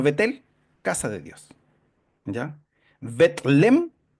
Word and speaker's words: Belén: casa de Dios ya betlem betlem porque así se escribe Belén nosotros está traducido al español como Belén pero es betlem significa casa de pan Eso significa Belén